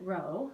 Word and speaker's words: rho: kind of like our it looks like the letter P but you pronounce it Rho so it goes like